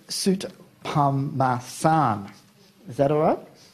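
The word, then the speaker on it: Soutphommasane: I've known Tim for 2 years, and apparently I've been mispronouncing his name. It's Soot Pamasan.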